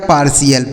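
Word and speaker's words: partial: दोस्त इसे पढ़ा जाएगा पार्शियल पी ए आर टी आई एल पार्शियल ऐसे पढ़ना है यानी यहां पर जो टी आई एल है ना इसका उच्चारण हमें सी एल के रूप में करना है जैसे यहां लिखा गया है टी एल नहीं सी एल ठीक ठीक है?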